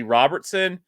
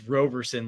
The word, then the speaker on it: Roberson: So yes, I would rather see Robertson, and then Knuth, then Barnett. So a note for you, Chef. It's Roberson, like L Roberson, spelled the same. Oh, it's not Robertson.